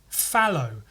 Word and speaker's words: phthalo: Fallow, blue, or fallow. Apparently it's just fallow. Then that makes the T and H completely worthless. Just have PHALO.